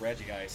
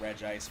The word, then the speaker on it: Regice: The joys of having it pronounced one way in the games and another in the anime, like with Regice versus Regice. I'll probably usually say Regice because of Hikari and the Mystery of Mew. Some people are finicky about it, but it's like, nah, if it's pronounced multiple ways, I will accept either.